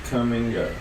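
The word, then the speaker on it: Kum & Go: had a gas station it was spelled k-u-m and told me to come and go why didn't they just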